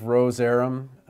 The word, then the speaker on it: Rozerem: you can think of Rozerem, roz- rhymes with doze, REM for rapid eye movement sleep, so a lot of hints in these brand names certainly worth remembering.